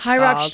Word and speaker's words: Hyrox: Hyrox training. It's spelled H Y R O X.